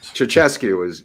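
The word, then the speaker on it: Ceaușescu: Ceausescu is how it's pronounced, but that would be great.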